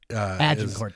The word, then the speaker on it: Agincourt: Agincourt.